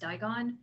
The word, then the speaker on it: Dragon: called digon produce but it's spelt like dragon but it's pronounced digon yeah um a gentleman